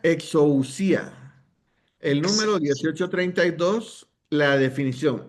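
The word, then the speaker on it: ἐξουσία: ¿Cómo se pronuncia? Exousia.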